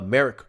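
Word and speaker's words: Merrick: Garland no Eric was it Eric no uh Merck Garland sorry that's how you say his name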